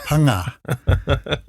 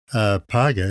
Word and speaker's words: paga: It's really actually not paga, it's panga. Panga, eh? Yeah, it's how you spell it. Panga, because the G is like a ng.